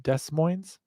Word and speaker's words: Des Moines: Yeah, Las Mujeres, actually, Abby was in here talking about the Des Moines near Seattle, but she said it's pronounced Des Moines.